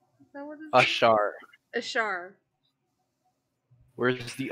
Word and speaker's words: Ashaar: Ashaar. Ashaar. Ashaar. Little Ashaar. Ashaar. You'll roll your R.